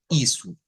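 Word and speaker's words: isso: algo en el portugués las os cuando van al final de las palabras o de las sílabas siempre van a haber cambios de o por u o sea se escribe una o pero suena una u Miren esta estamos diciendo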